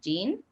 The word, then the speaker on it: Jean: john john jean j-e-a-n how do you say that name gene when gene augustine who